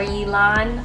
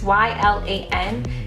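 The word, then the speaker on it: Y'lan: the purge I think his name is Eli or Yi LAN I feel like I'm saying his name wrong but it's why LAN he's fine too but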